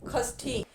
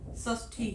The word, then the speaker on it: षष्ठी: अब अगला लेते हैं, खष्ठी। बोलने की दृष्टि से जो है हम गलत उच्चारण कर देते हैं, जबकि इसका मानक रूप क्या है? षष्ठी।